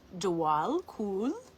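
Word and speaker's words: Djwhal Khul: Dwal Kul, pronounced Dwal Kul, also known as the Tibetan, is a Tibetan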